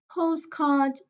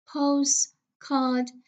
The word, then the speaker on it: postcard: We have dialects, dialects, attempts, attempts, attempts, postcard, postcard. As you can see here, we do not pronounce the t sound for ease of of pronunciation.